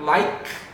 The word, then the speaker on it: like: E vocês podem perceber que o like e o lovein com um é, mas a gente não pronuncia esse é nunca. Então a gente sempre vai falar like, tem esse let's repeat.